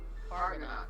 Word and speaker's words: Fargonaut: Argonaut, only with an F. Hard G. Fargonaut. So it looks like this.